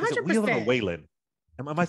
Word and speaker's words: Whelan: Is it Whelan or Whalen? Am I saying it right? Whelan or Whalen? I think Can it's y'all Whelan. check in my ear? Yeah, is it Whelan? Okay.